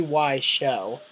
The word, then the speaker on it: Wiseau: the Tommy why show not why as in why why would you do that to me liser why is in why why is up okay Tommy why show because show rhymes with zo and my name it's